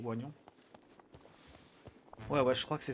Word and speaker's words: oignon: Tout dépend comment vous le disiez. J'ai toujours entendu oignon, mais c'est vrai que ça s'écrit oignon.